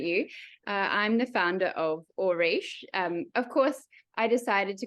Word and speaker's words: Auriche: how you pronounce it, Auriche. Gives you the idea of the gold, which is where ore comes from.